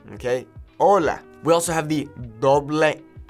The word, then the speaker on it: hola: like Ace is H be aware that the H in Spanish is silent so it's not hola hola okay hola we also have the